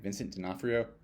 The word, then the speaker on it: Vincent D'Onofrio: Vincent D'Onofrio?